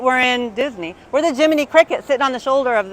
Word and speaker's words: Jiminy Cricket: We are the um Jiminy Cricut, right? We're in Disney. We're the Jiminy Cricket sitting on the shoulder of the of their Pinocchio.